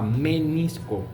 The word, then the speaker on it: menisco: Aquí se pronuncia con m de mamá. menisco medial y menisco lateral.